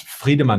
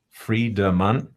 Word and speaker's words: Friedemann: So to pronounce it, it's free, so it's like free, but then the R is a German R, so Friedemann, Friedemann.